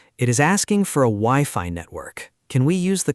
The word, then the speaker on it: Wi-Fi: But in English, we pronounce both letters like the word I.